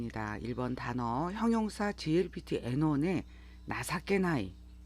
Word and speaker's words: 情けない: 단어 형용사 glpt n1의 나사케나이 이 뜻정차를 써서 이렇게 나사께 나이라고 읽어요 명사 나사께가 있고 여기에